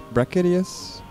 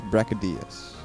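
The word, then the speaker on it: Brachydios: to pronounce his name Braca Deus Rocca dias I think she says Braca Diaz right so I think this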